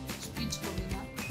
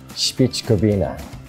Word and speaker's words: Špičkovina: Špičkovina. Ah, okay, I'll try this. Wait, what's that mean? Ah, okay. Špičkovina. Did I say it right? Yeah. Ah, see. I like Croatian words. Špičkovina.